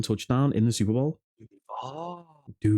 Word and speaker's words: Duval: It's no longer Duvall. It's Duval.